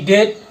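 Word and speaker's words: debt: পিছ থাকে তে হলে এই বি কি হয় উচ্চারণ হয় জেনে ডি ই বি টি ডেট এটু এটু হল ডেট এ বি টু উচ্চারণ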